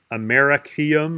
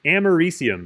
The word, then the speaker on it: americium: francium polonium germanium americium and that's how you pronounce that element it should be looks like it maybe should be like americaium or something because like it's america but it's americium is the way you pronounce that which i